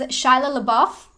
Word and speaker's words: Shia LaBeouf: Which is Shia LaBeouf. I feel like I always say his name wrong.